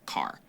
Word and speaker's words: char: short for character and sometimes you might hear people pronounce it as car oh so you can pronounce it like oh he said car but I mean care would work too cuz